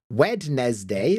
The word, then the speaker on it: Wednesday: is this um so when I was young and I was writing this word I would always in my head say wednes day so I could spell it correctly but yeah wedness what